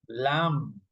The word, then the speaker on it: lamb: In this one you don't pronounce the b. That dead doubt dead. Doubt dam lamb subtle.